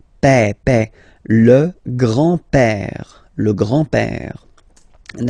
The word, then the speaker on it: père: Remember, accent grave like that. It's this opened père.